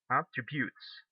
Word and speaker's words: attributes: it's different here because you say attributes attributes the stress goes at the last syllable so that means this